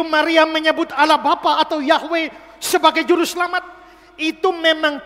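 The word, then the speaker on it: Yahweh: bahasa asli Alkitab itu ditulis yhwh Bacanya adalah yahwe maka sebab Akulah yahwe allahmu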